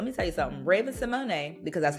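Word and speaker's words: Raven-Symoné: my goodness listen let me tell you something Raven Simone because that's how you pronounce her name get into it yeah um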